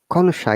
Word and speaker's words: connoisseur: Remember, guys, when it's a foreign word, sometimes it is difficult for us to pronounce it correctly because connoisseur is a French word which means a person who is knowledgeable and expert in arts, music, and food, and also judge the quality.